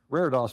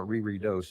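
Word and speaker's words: reredos: Um, raros may be a new word for you and that's how you say it. It's not Riri do, it's raros.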